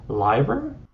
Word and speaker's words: Leiber: strung them together, usually like I hope I'm pronouncing this correctly. It's a 50-50 chance. Liber?